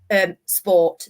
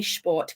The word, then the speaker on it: Sport: We find that in German now they are not saying things like sport. They do actually say sport, because we've systematically taught SP as the sp sound.